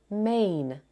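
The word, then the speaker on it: mane: The final E is silent, and the vowel spells its name, main.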